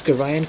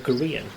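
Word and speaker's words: Gorion: Can't tell you how chuffed I am that you pronounce Garion correctly. I watch uh tons of people play this and nine times out of 10 they call him uh Korean.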